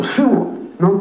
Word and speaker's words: Szyszlo: veces le oyó decir pronunciando su apellido algo así como sho no que es es la pronunciación en polaco de este apellido no y cada vez